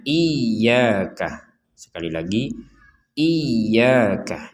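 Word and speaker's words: إياك: Jadi kita harus membacanya iyaka. Sekali lagi iyaka. Jangan sampai dibaca sekedar iyaka. Iyaka. Kalau cuman iyaka berarti tidak ada tanda tasdidnya.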